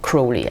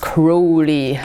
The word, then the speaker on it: Crowley: The devil in the Crowley deck is not necessarily such a Crowley. I'm sorry. I'm trying to get the bad habit out of my mouth, because he's actually pronounced Crowley, like the crow.